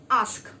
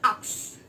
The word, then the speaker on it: ask: We tend to pronounce it as ax. So it is not ax. The word ax is AKS, but ask is ASK.